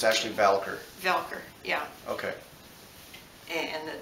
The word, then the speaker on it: Voelker: It's actually Voelker. Voelker. Yeah. Even though it's spelled V-O-L. It actually is O-E.